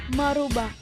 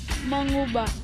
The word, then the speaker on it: mengubah: Merubah. Seharusnya ditulis dan diucapkan mengubah, karena asal katanya ubah bukan rubah. Ditambah imbuhan me dengan variasi bentuk morfem meng.